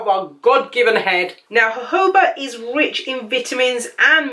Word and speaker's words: jojoba: So the oil I'm using here is jojoba. No, actually it's called jojoba. I don't know why people call it jojoba, and maybe because it's spelled J-O-J-O.